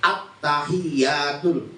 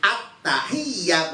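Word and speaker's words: التحيات: pas masalahnya ya bilang attahiyatul apa bacanya attahiyatul bukan attahiyah bukan bukan attahiyatul bukan begitu bacanya malah attahiyatul Nah itu sudah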